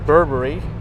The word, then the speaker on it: Burberry: Let's take a look at Burberry. Or if you want to pronounce it properly, it's Burberry.